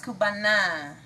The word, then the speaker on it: Cubana: It ends in A, by the way. I know. It's Cubana, not Cubano. Cubano.